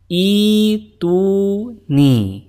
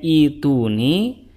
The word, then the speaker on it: ائتوني: kedua diganti menjadi ya Sehingga didapati ituuni jadi cara bacanya seperti itu Oke sekarang kita dapati Oh kenapa dibacanya ituni Karena asal musalnya adalah iuni harak pada ta itu asalnya adalah kasrh bukan thah pertanyaan berikutnya Kenapa tidak